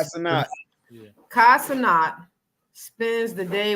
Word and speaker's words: Cenat: Is it Sinnott? Kai Cenat.